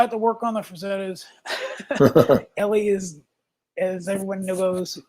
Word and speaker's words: Frazetta: So I had to work on the Frazettas.